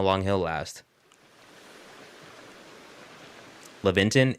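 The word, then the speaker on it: Laventon: Leventon is uh or Lavventon is believed to be the pronunciation.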